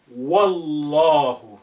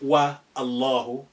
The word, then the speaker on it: Wallahu: But if you put wow there, by God, you say Wallahu, not wa Allahu.